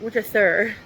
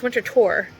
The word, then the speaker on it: Winterthur: I was saying it wrong. It's not winter thur. It's winter tour and it was a nice place.